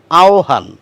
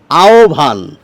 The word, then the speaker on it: আহ্বান: বটি হচ্ছে অন্তস্থ ব অন্তস্থ ব এর উচ্চারণ ডব্লিউ এর মত বাংলায় বললে খানিকটা ও এর মত সেই ওটি আপনারা শুনতে